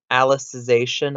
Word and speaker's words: Alicization: of sword art online Alice's ation I believe it's how you pronounce it since it's about a character named Alice getting 0.18 not a